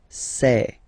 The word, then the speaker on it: sais: Okay, final S not pronounced, and then you get this A-I-E. Okay, je sais.